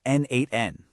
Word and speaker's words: n8n: And that brings us right to NN, which is pronounced N8N.